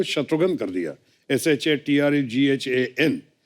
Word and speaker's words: शत्रुघ्न: भिन्न भिन्न प्रांत के लोग आज तक मेरा नाम किस तरह भिन्न भिन्न तरीके से उच्चारण करते हैं। मिसाल के तौर पे मेरे बंगाली फ्रेंड अभी तक मुझे कहते हैं कि रे शत्रुघ्नो केमन आशीष।